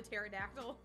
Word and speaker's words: pterodactyl: I'm trying to like is this like the pterodactyl like where the P is silent is it just care